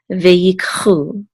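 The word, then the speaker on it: וַיִּקְחוּ: So this is ve'yik, and this is a chet with a vav and the dot through it. It says u, so this is chu, ve'yikchu.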